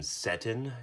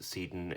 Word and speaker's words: Seton: this guy's name is I've heard of other people calling him settin erosion protector and they are allowed to be wrong but that's not how you pronounce it in any case this